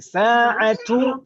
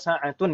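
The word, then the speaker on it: ساعةُ: Sa'atu atau sa'atun yang betul? Satu. Jangan ikutan saya. Kalau misalkan salah ya bilang saja salah itu. Nama Ustadz kan manusia biasa, boleh salah. Tapi yang betul sa'atu atau sa'atun membacanya? Satu.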